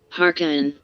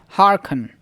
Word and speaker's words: hearken: second Sunnah okay so what is the its pronunciation harken so harken harken so hearken to his to